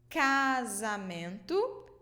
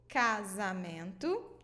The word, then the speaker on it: casamento: So before the vowels A, O, and U, A, O, and U, we pronounce it with the sound K, K, okay?